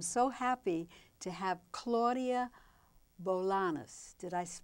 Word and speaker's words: Bolaños: And I'm so happy to have Claudia Bolaños. Did I pronounce it right? Bolaños. Bolaños.